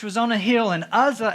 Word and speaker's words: Uzzah: on a hill, and Uzzah, and that is how you pronounce that one, Uzzah, and I'm going to call him Ahio.